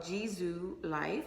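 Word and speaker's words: JISULIFE: So the brand is called Jisoo Life. It's spelled Jisule Life.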